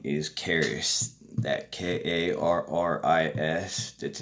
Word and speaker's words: Karis: so my name is Karis it's pronounced like you know like the city of Paris but with a k' I hope that helps